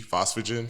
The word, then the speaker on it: phosphogen: So, it's a aerobic system, b phosphogen system, c glycolytic system, or d respiratory system?